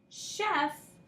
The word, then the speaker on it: chef: But we know just from exposure that CH can also make a sh sound.